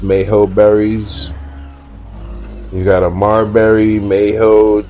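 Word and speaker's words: Mejoberry: I think I really think it's pronounced Mayo berries. You got a Marberry, Mayo, Tinto, Verde. Yeah, I think it's Yeah, I think it's Mayho like Tapihara.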